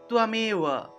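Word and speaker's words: ত্বমেব: তাহলে তয়ের নিচে বফলা থাকলে উচ্চারণ হয় তুয়, তাহলে তুয়ামেওয়া তুয়ামেওয়া।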